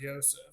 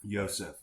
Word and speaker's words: Joseph: I think it's pronounced Yosef. Yosef, great.